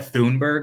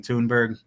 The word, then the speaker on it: Thunberg: say her name name some people said thunberg like I always said but I noticed some British people saying tunberg um obviously if you